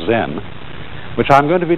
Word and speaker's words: Zen: it's spelled z-e-n and that is the japanese way of pronouncing the chinese word chan and this in turn